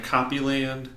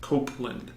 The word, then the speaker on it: Copeland: people think it's hard people pronounce my own copy land or the like it's Copeland can you read isn't